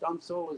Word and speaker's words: studding sail: the leech of the main the stencil or studding sail as it's felt but pronounced stunsil is off to the windward side of the